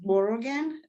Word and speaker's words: Morrigan: you so much so my last name is pronounced Morrigan the G is kind of silent so it's blur again